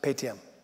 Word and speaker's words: Paytm: How do you pronounce it? Paytm.